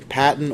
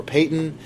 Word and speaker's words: Paton: share the life of John Gibson Patton or Payton the pronunciation depends on who you ask if you ask Pastor Josh it's Patton since that's what he named his child um but if you